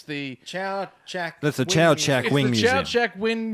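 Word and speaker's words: Chau Chak Wing: the Sam, can you help us with the pronunciation of that museum? It's the Chow Chak. That's the Chow Chak Wing the Museum.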